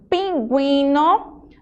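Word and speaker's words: pingüino: Então, quando você vê o sinalzinho de trema, que são aqueles dois pontinhos em cima da letra U, significa que essa letra ela é pronunciada.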